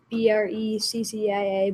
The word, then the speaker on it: breccia: And it's spelled Breccia, but pronounced breccia.